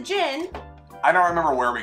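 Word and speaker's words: Jyn: one what's your name let's see you mispronounce it jenn-air so close Jin yeah you said giant no as a Jin I don't remember where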